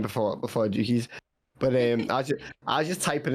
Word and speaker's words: Jukeyz: I would say easy to pronounce because I got to call it Jukeyz all last year. Really? Yeah, because it's the way people pronounce the Z in it. So like, I say Jukeyz, but people pronounce the Z as like a Z.